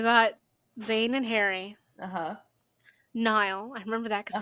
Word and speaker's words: Niall: It's just like, I thought it was Neil, and then it's like, no, it's pronounced Niall.